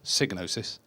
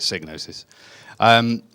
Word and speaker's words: Psygnosis: by the way his signo sis pronounced like hypnosis that's because the guy who invented the word he says it's pronounced that way so therefore we all call it signo sis so I ended up